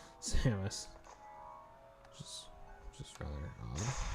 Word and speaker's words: Samus: Also, it kind of sounded like he didn't pronounce the second S in Samus, which is just rather odd.